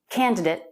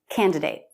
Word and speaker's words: candidate: pronounced two different ways it can end in it or eight candidate candidate now at the beginning